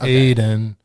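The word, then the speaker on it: Aydin: is it again adam aidan aiden eden a-y-d-i-n aiden okay well i truly i don't [ __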